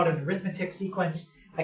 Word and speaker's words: arithmetic: Arithmetic. Some people say arithmetic. Some people say arithmetic. I say arithmetic.